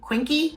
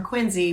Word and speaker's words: Quincy: called it quiny Massachusetts phonetically it looks like it should be quinky or quiny and it's not so if you're moving to quiny make sure you say you're from quiny Once you live here